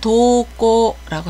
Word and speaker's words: 登校: 음은 도 또는 도라고 읽습니다. 등교를 도꼬라고 합니다.